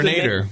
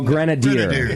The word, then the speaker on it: Grenadier: What's the Grenader. name? Grenader? No, Grenadier. Grenadier? It's like Spanish for grenade thrower.